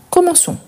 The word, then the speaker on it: commençons: Nous, il y a la cédille, même si le verbe ne le présente pas. Pourquoi ? C'est à cause de la prononciation. Nous commençons.